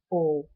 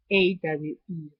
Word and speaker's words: awe: The second one I can mention is awe, and I'm going to spell it because sometimes I don't pronounce it properly. AWE, awe, like awesome.